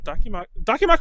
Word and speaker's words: Dakimakura: Hold on, Dakimakura is the correct one, right?